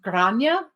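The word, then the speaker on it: Gráinne: So it is spelled, it does start with a GR. It's pronounced Grainne, It's Grainne. I looked it up.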